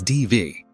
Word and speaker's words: Daibhidh: In Scottish Gaelic culture, Daibhidh, pronounced roughly as Dee-vee, appears in Highland family